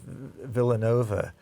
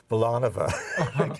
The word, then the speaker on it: Villanova: to bet on was Villanova and he but he pronounced as vova like valet God I mean did